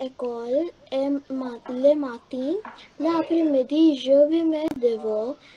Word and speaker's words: l'après-midi: Like this won't be le après-midi, it will be l'après-midi. So this is all also what we will be working on in the class.